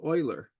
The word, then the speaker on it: Euler: And finally, or what was totally a miraculous thing, the Swiss mathematician, whose name is written Euler, but is pronounced Euler, like the Houston Oilers. Euler proved that summation 1 over n squared from 1 to infinity is pi squared over 6.